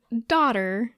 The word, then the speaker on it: dodder: like 18 times now it's spelled D o d d r it's not like daughter like a like a young like an offspring daughter d o d d e r it's just a very